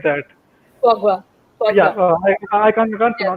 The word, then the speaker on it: foie gras: There is a French name, I can't pronounce it correctly. It's called Fulgra or something like that. Foie gras.